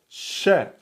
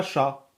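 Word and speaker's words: ش: Vous ne dites pas chat. Ok, donc c'est sha.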